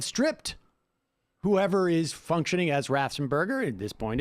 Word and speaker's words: Raffensperger: In other words, they were upset that Raffensperger, in many respects, did not act like Kemp